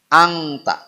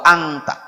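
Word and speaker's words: أنت: Kebanyakan kita membaca ikhfa semuanya angta. Tidak boleh. Bacanya anta saja.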